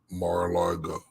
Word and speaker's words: Mar-a-Lago: Mariargo? Mar-Largo? Hell, you know what I'm talking about. I'm trying to set up a links event at Trump's Mar-a-Lago place in Florida.